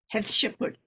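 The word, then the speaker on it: Hatshepsut: they've got one uh how to pronounce it sounds like have Shepherd actually h a t s h e p s u t has has to put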